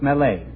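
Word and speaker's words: Millet: Vinci it's John Francois Mele m i l l e t is the way it's spelled but it's pronounced melee mhm I'm sorry you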